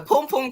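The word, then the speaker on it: pum-pum: the pom-pom chronicles so i gotta teach you how to say it yes right just like that the pom-pom chronicles because you can't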